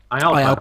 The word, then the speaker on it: IALPA: How am I supposed to pronounce That's that? it. Yep. IALPA, correct.